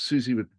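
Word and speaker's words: Siouxsie: Well, first of all, it's it's spelled so weird. It's spelled with an an S. S. It starts Susie, but the Z part is with an X. So, it's Susie and the Banshees.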